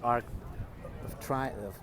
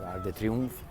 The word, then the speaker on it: Arc de Triomphe: That's the Arc of Triumph. I know how you say it. Arc de Triomphe.